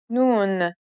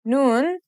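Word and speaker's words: ن: right it means I the N sounds just like the English n let's remember how to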